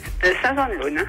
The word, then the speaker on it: Saint-Jean de l'Ausne: Saint-Jean de l'Ausne. C'est bon, d'accord. Je vais prononcer le S. On dit pas le S.